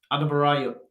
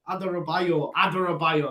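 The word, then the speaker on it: Adarabioyo: Tosin Adabarayo. Oh man, that's going to do my head in. That Carabao's gone to Ed. Tosin Adabarayo. No. I know how to say it as well. Adarabayo. That's it.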